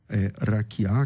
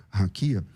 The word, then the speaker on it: raquiá: E essa palavra, raquiá, que você por alguma razão pronuncia raquia, essa essa palavra, ela